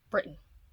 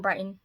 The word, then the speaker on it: Britton: shiny by barbara in britain it's britain i've been saying brighton it's britain i listened to the